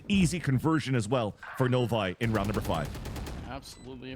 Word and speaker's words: Novi: this pronunciation it's not it's not Novi it's no VI but listen get it